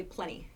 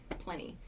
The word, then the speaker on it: plenty: said plenty very clearly in uh everyday speech we say plenty plenty it sounds like p-l-e-n-n-y plenty so i have